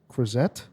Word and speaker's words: Croizet: Of this, how do you pronounce that, Senator? Croizet.